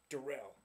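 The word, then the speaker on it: Darrelle: to the Super Bowl oh man they have darl Rivas now derell excuse me spelled like darl but it's pronounced derell you know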